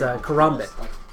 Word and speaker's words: karambit: His melee weapon is karambit.